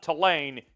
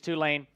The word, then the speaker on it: Tulane: you would know this it's not Tulane it's Tulane it's Tulane it is too lame it is two lane uh make no mistake